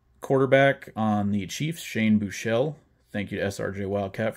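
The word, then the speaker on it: Buechele: So that quarterback on the Chiefs, Shane Bouchel. Thank you to SRJ Wildcat for telling me how to pronounce that.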